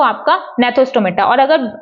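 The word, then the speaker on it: Gnathostomata: Vertebrates को इसको बोलते हैं एग्नाथा, इसको बोलते हैं नेथोस्टोमेटा। ठीक है, एग्नाथा ए को साइलेंट मत रखिएगा, इसमें जी को साइलेंट रख दीजिएगा, नेथोस्टोमेटा।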